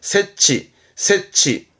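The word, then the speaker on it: 設置: 이건 설자입니다. 설치합니다. 세치.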